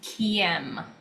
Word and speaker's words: Caim: It's a Gaelic Celtic word and it's pronounced KM. KM.